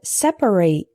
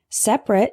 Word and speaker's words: separate: Our next heteronym is separate and separate. Separate is an adjective meaning apart or distinct.